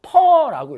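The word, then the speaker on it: per: 요거를 퍼라고 읽어요.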